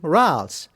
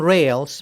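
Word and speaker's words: rales: them crackles or actually rals now make sure you don't call them rails because ralph's is french and that's the pronunciation if you are from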